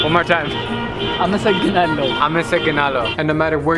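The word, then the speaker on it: አመሰግናለሁ: Amasagnalo. One more time. Amasagnalo.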